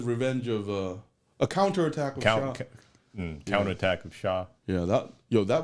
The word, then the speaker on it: Char: In Japanese it's Shah, but in English it's spelled like Char. Char.